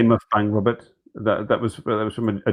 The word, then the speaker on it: mukbang: I keep calling it muff bang. Is it It's mukbang. mukbang?